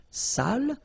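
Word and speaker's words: sale: the accent it means dirty and then you pronounce it Sal but in that case here okay you put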